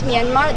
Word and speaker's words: Myanmar: Um the way you pronounce Myanmar there's no Rs. So it's Myanmar.